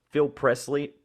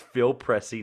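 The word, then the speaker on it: Phil Pressey: olynyk olynyk excuse me phil presley sorry i always get his name wrong phil pressy it's phil pressy not presley ray john rondo jared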